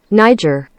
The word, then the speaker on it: Niger: Niger. Excellent. Now we've got our pronunciation, let's click on the link that Atrioc gave me to learn more about this.